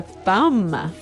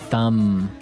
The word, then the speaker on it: thumb: so the pronunciation here do you say the b at the end of this word no I actually only pronounce the M the thumb the thumb